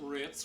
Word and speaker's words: Ritz: Ritz rhymes with fits.